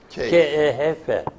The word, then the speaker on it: Kehf: Arapçası Kehf. K-E-H-F. Bu Kehf okunuyor, bu Kehf okunuyor.